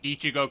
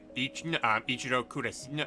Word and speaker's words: Ichigo: Japanese names properly like instead of like say Ichigo kurasaki he pronounces it ich icho um Kurosaki which is like wrong yeah that is wrong